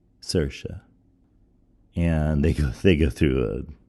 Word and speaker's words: Saoirse: It's with Stephen Colbert and Saoirse Ronan. And for those of you who don't know how to spell Saoirse, it's something like Saoirse. But in Gaelic, it's pronounced Saoirse.